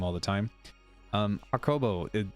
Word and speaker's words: Hakobo: all the time um okobo am i saying your name correctly this time yes it's it is hot kobo awesome um welcome to